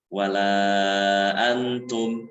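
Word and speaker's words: وَلَا أَنتُمْ: Wala antum, ada mim sukun. Nah, itu dibacanya jangan diikhfakan, ya, jangan diidghamkan, tapi idhar. Jangan wala antum abidu, tapi idhar langsung.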